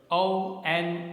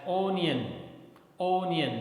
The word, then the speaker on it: onion: Next word, ONION. Generally we speak it as onion, but it's not correct. The correct pronunciation is onion, onion, okay.